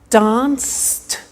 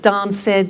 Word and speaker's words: danced: look at that watched danced eliminate the e pronounce the t danced laughed washed and walked okay now the temptation is to say watch it dan said la fed wash it